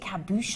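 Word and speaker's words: cabochon: these large Cabo um so you pronounce it kabush I like that or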